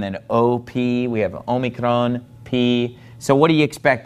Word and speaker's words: pi: we have the letter P you probably again learned this in math as pi but in greek it's pronounced p okay let me draw